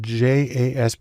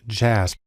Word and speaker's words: JASP: open source community has developed a program called jasb it's actually pronounced jasp which is sort of an open source version